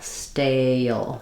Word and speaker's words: stale: So the A is more open than the E. It also glides. It's a diphthong, whereas steal and still, my vowel doesn't move and doesn't glide. It's a monophthong. Stale. Often people will find it helpful to do the first part of the word like stay, then add the L.